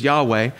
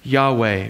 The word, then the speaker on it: Yahweh: with the highest name the closest we can get to understanding how they might have pronounced it was yahweh but we don't know because the scribes the